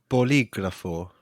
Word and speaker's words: bolígrafo: So the options are bolígrafo, lápiz, or crayon. The first one. How do you say that, Dan? You say it again. Bolígrafo. Bolígrafo.